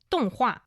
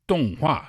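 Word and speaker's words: 动画: Um, you can call them animation is donghua. Donghua.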